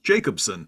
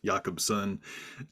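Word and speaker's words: Jacobsen: of dor hild yakobson who I had previously mispronounced numerous times as Jacobson and I was recently educated on the pronunciation of the last name but uh academics like Thor held yakobson academics such as Benjamin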